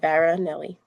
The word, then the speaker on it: Varanelli: So yeah, it's just how it's spelled. Veronelli. It's easy.